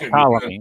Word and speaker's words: Ptolemy: That's Ptolemy. Yeah, It's Ptolemy. Yeah, the P is silent. It's E-T. kind of like the S in Illinois. Yeah, so.